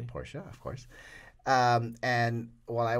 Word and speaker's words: Porsche: oh we're at Willow Springs thank you for pronouncing Porsche correctly Porsche of course and while I was there we